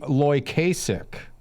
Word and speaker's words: Loykasek: We have Cory Loykasek. Did I pronounce that properly?